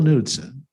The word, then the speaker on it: Knudsen: Knudsen, he said, no, that's not how you pronounce my name. He said, you don't call it a Knie, do you? So Knudsen, he pronounced as Knudsen.